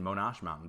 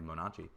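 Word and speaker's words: Monache Mountain: Same with Templeton Mountain and Monachi Mountain, which I've been pronouncing Monash Mountain, but it's apparently Monachi.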